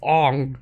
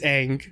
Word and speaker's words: Aang: butchered like aung's name like oh it's on is it wrong it's ang it's egg from the animated series